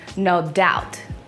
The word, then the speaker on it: No Doubt: This is the band No Doubt. You can't say dopt, dap, whatever you say. It's no doubt about this is the iconic band.